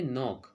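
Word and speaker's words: knock: यहाँ पे के साइलेंट है, ओके, तो इसे हम कहेंगे नॉक।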